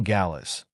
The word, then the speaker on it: Gallas: name he asked Paul Gallas g s like Dallas but spelled with a G ah here you are